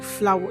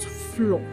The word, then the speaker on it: flower: But the word is actually flower. It has two syllables and not one syllable. I hope you've learned something new today. Remember flower and not floor.